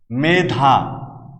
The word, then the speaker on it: মেধা: কোনো কোনো ক্ষেত্রে এর ব্যতিক্রমও রয়েছে, যেমন মেধা, হেমন্ত। আমাদের সূত্র ছিল একারের পরে আ অথবা অ থাকবে না, যেখানে থাকবে না সেখানে এ উচ্চারিত হবে। কিন্তু দেখো এখানে আ আছে, এখানে অ আছে, দুটোই আছে, কিন্তু এই দুটি শব্দের উচ্চারণই আমরা করি একার দিয়ে, এ সংবৃত উচ্চারণ হবে। মেধা, হেমন্ত, আমরা এখানে কোথাও মেধা বা হেমন্ত উচ্চারণ করছি না, এগুলো হচ্ছে এর ব্যতিক্রম। পরের সূত্রটি দেখো, কোনো একটি